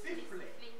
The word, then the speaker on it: sifflet: Le sifflet. Ok. Qu'est-ce qui termine? T. C'est T. Est-ce que T est prononcé? Non.